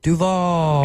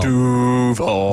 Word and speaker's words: Duval: it's awesome, but it's not said Duval. Yeah. No. Duval. That's exactly how it's said.